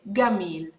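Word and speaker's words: جميل: have a gene so if you want to say the word Jamil beautiful Egyptians would say Gamal Gamal I'm sure you would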